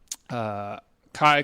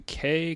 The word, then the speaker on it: Kei: And then it turns out I've been saying Kai Kobayashi all this time, but it's actually Kei Kobayashi.